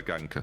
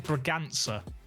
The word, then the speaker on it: Braganza: great goal as well brian ganker's great oba ganker sorry not bran i just had an end for no reason why why you still said it wrong what his name is braganza yes what's it he said sorry i'm not my native tongue is in portuguese mine is if you're